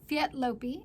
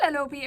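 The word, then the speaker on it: Léttlopi: And nice to see her swatching with Lettlopi, is how I've been told we're supposed to say it. We like to say Lettlopi around here. But that's incorrect. I've been corrected that it's Lettlopi.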